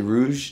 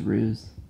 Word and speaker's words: ruse: Is it rouge? Did I say it right? It's ruse.